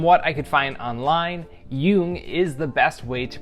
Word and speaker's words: Jung: pronounce it from what I could find online Yung is the best way to pronounce or the correct pronunciation of his last